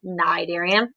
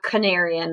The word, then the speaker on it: Cnidarian: talking about nigerians today cnidarians the sea is silent nidarian it's not canarian or whatever you would say so it's nidarian cydarians are like jellyfish